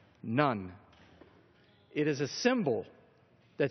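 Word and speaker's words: ن: is the Arabic letter for in and it's pronounced nun it is a symbol that stands for the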